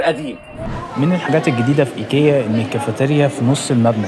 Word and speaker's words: ايكيا: وي بكام حلو معلومه الناس اللي بتنطق ايكيا في مصر تنطقها غلط بتقول ايكيا يا جماعه بتتنطق ايكيا مش ايكيا ايكيا ايكيا عن اي